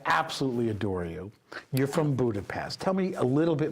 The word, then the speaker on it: Budapest: they say that God Budapest budapes yes a little sh in it yes is pronounced sh